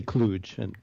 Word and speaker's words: Kluge: Cluj, is that how you pronounce it? Cluj? People differ about that, but that's fine. I would say Kluge.